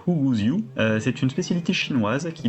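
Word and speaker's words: 虎骨酒: Alors en VO, ça se prononce Huguziu.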